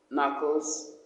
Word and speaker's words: knuckles: The sound is silent, and the words used in this rhyme is knife, knee, knock, knock, knuckles, night, new. All the words, the K is a silent K.